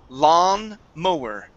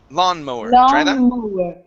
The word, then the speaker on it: lawn mower: good and alessia this word here this is pronounced lawn mower lawn mower okay okay very good and um now you